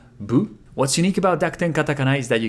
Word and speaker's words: ヴ: But be aware that although vu is the character for vu, it actually sounds more like bu, because a lot of Japanese speakers are not used to pronouncing V sounds, as I said.